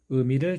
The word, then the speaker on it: 의: 먼저 발음은 첫 번째 단모음 으와 두 번째 단모음 이가 빠르게 연결되어서 발음됩니다. 으, 이, 으, 이, 으, 이, 으, 이, 의, 의, 의, 의, 의, 의, 의, 의. 발음이 쉽지는 않습니다. 한국인들 중에도 이 발음을 그냥 첫 번째 모음 으로 발음하시는 분들도 있습니다. 꼭 의 발음 기억해 주시기 바랍니다.